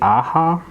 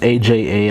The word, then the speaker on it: Aja: be hard to pronounce andre aha it's aja i'm going to say